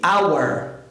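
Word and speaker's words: hour: pensar na palavra ora ora em inglês começa com consoante a coreia consoante muda ó hora pronuncia-se our our e eu vou utilizar o n por quê porque essa constante é muda o que vale é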